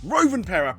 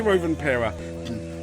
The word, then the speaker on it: Rovanperä: driver, in particular a Finnish Toyota driver that rhymes with Lalapera. Okay, bad joke. Rovanperä pretty much dominated the weekend.